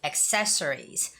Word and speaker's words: accessories: we say it access hat e instead of accessories accessories so when you're saying this in English